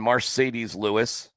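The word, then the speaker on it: Marcedes Lewis: and and you're welcoming Mercedes Lewis. That is how you say his name.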